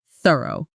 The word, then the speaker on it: thorough: In thorough, it's the soft one, made by placing your tongue lightly between your teeth and letting air pass through, almost like a gentle hiss, not a hard T or S sound, which is what a lot of learners substitute instead.